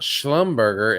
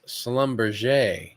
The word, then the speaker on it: Schlumberger: oh this is good to know it's not Schlumberger is Slumber it rhymes with negl maybe they make negl Slumber